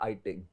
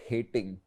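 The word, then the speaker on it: Heyting: iing algebras so iing the H is silent h e y t i n g but iting not hating okay so same thing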